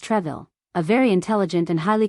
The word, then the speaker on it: Troisville: This was meant for Henri-Joseph de Peyre, Count de Troisville's, 1642 to 1708, pronounced Treville, a very intelligent and